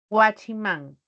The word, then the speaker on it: guachimán: palabras agudas comprobemos guachiman al pronunciar Guachi Man tiene tres sílabas recae la mayor y ahora me fijo que Man va va a terminar en consonante n ven ahí está la n y me dice que si puedo tilar si terminaba en nar Entonces por esa razón guachimán está tiada si pronuncio vaip la